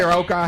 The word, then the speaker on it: karaoke: Karaoke. See how that hand just came up? Like a Busta Rhymes How do you video. pronounce it? Karaoke. he said karaoke, Karaoke. like teriyaki but different.